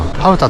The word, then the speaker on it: ハウタ: ハウタって読むのか今更